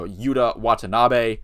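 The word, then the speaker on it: Yuta Watanabe: and uh Yuda Watanabe excuse me if I got the wrong but I do think I pronounced that right I did make sure to I made sure to watch some clips to get that last name right uh were impacted off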